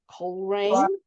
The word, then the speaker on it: Coleraine: I learned today how to say this word, Coleraine. I wanted to make it 3-syllable. They were like, nope, don't do that.